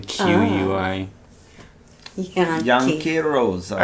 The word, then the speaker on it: Yanqui: it's spelled differently, but it's pronounced the same. Yanqui.